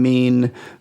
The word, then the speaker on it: meme: It's actually like gene. It's a gene meme. It's supposed to rhyme with gene, like genetics. So meme.